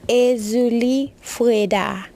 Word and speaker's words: Erzulie Freda: so today is actually euli freda's feast day so the proper way to say her name is euli fra that's how you say it in K but she is a